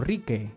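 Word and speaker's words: rikay: estamos trabajando por ende el verbo rica y se pronuncia como ricky que es mirar llamó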